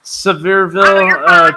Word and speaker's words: Sevierville: sabirah go okay the varible i'm sorry i butchered the name sorry Sevierville Tennessee supposedly has a weekly ghost tour it's